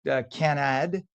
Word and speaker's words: Canada: Canad, as it's pronounced in French, canad.